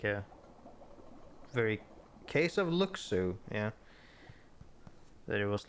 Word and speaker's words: Luxu: In the master's playful and mischievous way, he gave his apprentice Luxu a Luxu is how you pronounce it.